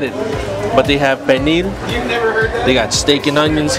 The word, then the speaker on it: pernil: And they have everything from pernil. How do you say pernil?